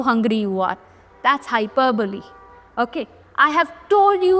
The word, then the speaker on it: hyperbole: Next, hyperbole. Hyperbole, पहले इसका pronunciation याद रखना.